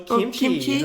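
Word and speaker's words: 김치: god come on big boy want some more kimchi okay you said it right oh kimchi good job i'll get you a whole trough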